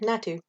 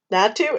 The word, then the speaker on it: Natu: so curious anyway uh natu matthew yeah not too that's not let me do the next one too it's natu and exotic you do what